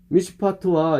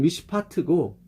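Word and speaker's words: מִשְׁפָּט: 정의는 미슈파트고 거의 비슷해요. 미슈파흐, 미슈파트. 그러니까 티귿과 히읗 차이 그냥 거의 비슷해요. 어떻게 발음하면 똑같아. 잘못 발음하면 어떻게 들으면 똑같은데 미슈파트, 미슈파흐 똑같아. 근데 본질적으로 틀려요.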